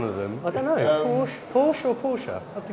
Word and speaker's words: Porsche: tended to say por Porche I'd say Porsche yeah um you say Porche I say Porsche why say why say more syllables than required cuz otherwise pora in